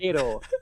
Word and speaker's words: Kiro: I don't know what I'm saying with a bit of a Spanish pronunciation. Because that's how you say it. That's how you say it. Kiro.